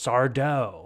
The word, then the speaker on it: Sardo: And these recurring characters, Sardo. Accent on the Mister, dough. Yeah. Accent on the dough.